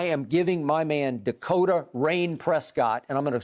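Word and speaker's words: Reign: giving my man dakota rain prescott and i'm going to spell that middle name r-e-i-g-n rain as in rain over right it didn't happen yep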